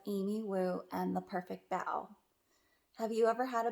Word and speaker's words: bao: how you pronounce it b-a-o is not pronounced bow like a bow tie or a hair bow you see how the kitty is wearing a bow so b-a-o is bow that's how you pronounce